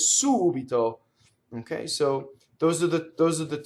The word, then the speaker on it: subito: Or it can be the anti-penultimate, like subito, which means suddenly, right? It's not subito, that would be the normal stress, but that word is subito.